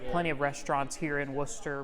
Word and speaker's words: Wooster: in Worcester, downtown Worcester.